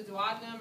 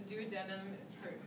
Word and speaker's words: duodenum: That first one is the duodenum or the duodenum. Pronouncing either way is fine.